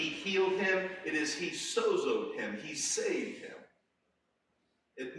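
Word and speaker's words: σῴζω: The word they use for salvation, we would pronounce it as sozo, S-O-Z-O.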